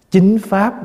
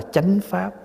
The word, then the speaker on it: chánh pháp: Nhưng mình tới đây cái mình đọc cúng dường chính Pháp đọc là chánh pháp Vì người bác đọc chính mình đọc Chánh cái này một trường